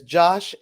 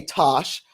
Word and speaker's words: Tosh: you talking sometimes you the way you say my name it translated as josh and i got a nephew named josh and okay tosh i'm tosh it's just like uh